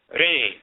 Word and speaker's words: ren: could be ran, but how is the term RN pronounced? Is it Ron? Is it Rune? Is it Rain? Is it Reen? What is it? In Akan culture, the term for name is deen. In ancient Kemet, it's reen.